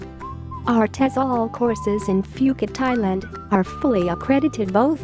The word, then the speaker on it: Phuket: worldwide the beautiful tropical island of Phuket fortunately pronounced as Phuket is frequently and justifiably referred to as the